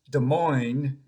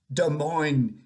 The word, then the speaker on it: Des Moines: And when in fifth grade geography, I had pronounced Des Moines as though it were a village in France, Mr. Kephart led me to the map on the front wall, and so I'd know where I was, pressed my forehead squarely against Iowa. Des Moines, he said, rhymes with coin.